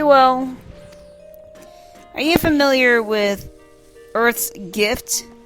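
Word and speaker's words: Urth: Are you familiar with Earth's Gift? Earth is spelled U-R-T-H.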